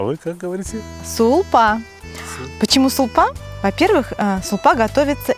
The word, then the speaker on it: сулпа: Сулпу, как странно вы произносите, я привык шурпа. А вы как говорите? Сулпа.